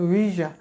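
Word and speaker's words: visa: তারপরে এটা শিখে নি এটা আমরা ভিসা বলি বাট এটা হবে ভিজা ভি এরপরে নেক্সট ওয়ার্ড হচ্ছে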